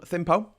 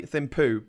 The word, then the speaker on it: Thimphu: The capital is called Thimphu. I think people want to say Thimphu, but I think it's pronounced Thimphu.